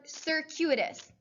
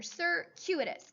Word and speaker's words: circuitous: In addition, we have the word circuitous. It's a really hard word to say. It looks like circuit and then O-U-S as the suffix. But here, it's pronounced with a Q in the center, circuitous.